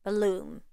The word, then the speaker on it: balloon: Take a word such as balloon. Exaggerate it, overpronounce it.